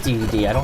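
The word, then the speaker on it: Dedede: And it is DDD. I'm pretty sure it's not Day, as I've heard some people pronounce it somewhere along the way.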